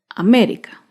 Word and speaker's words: América: ejemplo es la palabra américa américa se acentúa en la antepenúltima sílaba américa otro ejemplo es la